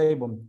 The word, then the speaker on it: Avon: marca esa de cosméticos abon o Avon se pronuncia Avon abon eso es iniquidad la